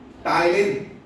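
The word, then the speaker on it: ptyalin: टाइलिन। P silent है, टाइलिन, या दूसरा नाम मैंने बताया क्या है?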